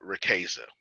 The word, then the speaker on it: Riqueza: revenues it is called rakeisa that's the english pronunciation of it it is not pronounced that way in spanish which is where i